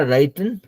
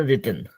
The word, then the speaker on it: written: सो एक वर्ड हमको लास्ट में सुनाई पड़ा, राइटन. राइटन नहीं बोलेंगे, सो रिटन. Read, right. रीड और राइट, तो राइट से आप राइटिंग, रिटन, उसको वैसे प्रोनाउंस कर सकते हैं.